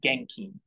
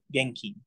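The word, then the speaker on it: 現金: that are for cash it's genking again yeah k-i-n-keen right Keen like like I'm Keen yeah Genki the end there is very important uh if you said Genki that means like energetic totally inappropriate position how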